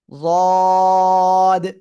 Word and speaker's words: ض: তাহলে উচ্চারণ হবে যদ।